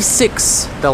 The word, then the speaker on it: sixth: so here's the trick when you say six the last sound of that is s correct and the th the voiceless th sound that we use at the end of sixth is very similar the only difference is your tongue is out just a little bit and you blow out air so from you have